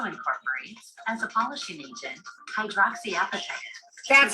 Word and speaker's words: hydroxyapatite: Second, this novel toothpaste also incorporates, as a polishing agent, hydroxyapatite.